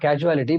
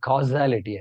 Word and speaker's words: causality: one line yeah probably not casuality but causality sorry causality I pronounced it wrong sorry this point is